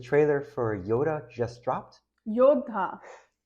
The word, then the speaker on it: Yodha: Yodha. It's not Yoda. He's fighter. Yodha.